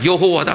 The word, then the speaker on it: 여호와: 그러니까 야훼라는 말 플러스에 아도나이라고 하는 줄을 플러스 해가지고 뭐라고 했느냐? 여호와다 그랬어요. 여호와. 그 발음이 없으니까, 모음이 없어요, 히브리어는. 그러니까 아도나이라는 이름을 집어넣어서 여호와로 부르자 해서 여호와로 부른 거란 말이에요.